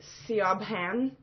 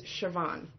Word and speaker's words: Siobhan: What should be Siobhan is Siobhan. What's Siobhan?